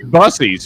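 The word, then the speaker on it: Buc-ee's: Dude, you guys met on Yeah, it it's busies for sure. It's definitely the E after the C thing is an S, dude. So, it's busies.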